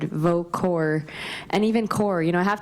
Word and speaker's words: Kaur: Mun rhymes with sun, Preet with the th at the end, and Kaur like apple core, and that's as close